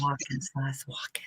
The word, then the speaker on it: Wacken: I love Wacken and I love all the festivals. I said Wacken. Yeah. That's how you pronounce it.